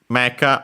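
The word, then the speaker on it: メカ: Mecca on its own accented on the uh first moa. So Mecca high low pretty easy.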